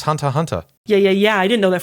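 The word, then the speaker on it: Hunter × Hunter: I didn't realize it was supposed to be pronounced Hunter x Hunter.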